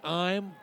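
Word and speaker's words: Ihm: Aiden Ime, beg your pardon. I-H-M, pronounced Ime, sophomore, can really sling it, it looks like.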